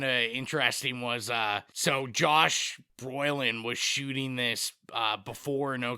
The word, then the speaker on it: Brolin: I was kind of chuckling that you keep calling him Broylin instead of Brolin.